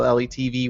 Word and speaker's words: LeTV: Letv. No, it's dumber than that. So LETV, you just say all the letters.